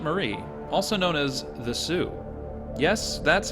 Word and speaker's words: Sault: better I'm heading into the Border Town of Sue St Marie also known as the Sue yes that's how it's pronounced the word Sue is derived from old